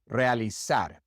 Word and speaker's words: realizar: And the Z in the majority of the Spanish-speaking world is pronounced just like the S. The Z sound doesn't exist. Zona, 10, realizar.